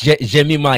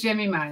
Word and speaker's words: Jemima: and by the way, I am correct in saying it's Jemima, yeah? That's correct. I was worried you were going to mispronounce it, but it is Jemima, yes.